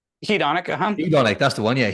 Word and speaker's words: hedonic: How do you pronounce that word? Hedonic? Hedonic, Hedonic, that's the one.